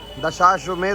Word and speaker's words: दशाश्वमेध: एक पेड़िया लस्सी कॉर्नर तो दशमेध घाट तक बोर्ड लगलो छे आगू, कनिक के आगू लागल है दशमेध घाट के बोर्ड। हमर प्रोनाउंसिएशन गलत छे, ई छे दशाश्वमेध घाट।